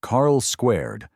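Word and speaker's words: Carl²: Before clones were cool and identity crisis became sitcom staples, Carl 2 pronounced Carl Squared snuck onto the airwaves with a premise eerily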